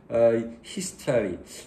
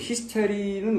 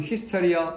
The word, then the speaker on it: hysteria: 그리고 like 뭐처럼 the frequent public hysteria. 여러분 hysteric는 우리식이고요. 영어에서는 hysteria 이렇게 발음합니다. hysteria.